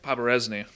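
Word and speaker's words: Poberezny: Paparesny. Is that how it's pronounced?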